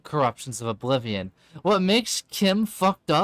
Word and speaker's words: CHIM: Chim Oh, I'm I'm wrong. It's pronounced Kim.